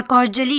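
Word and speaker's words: cordially: यू आर कॉर्डियली invited, यहाँ पे डी नहीं जे प्रोनाउंस होगा।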